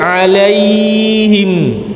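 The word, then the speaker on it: عَلَيْهِمْ: Bukan alaihim.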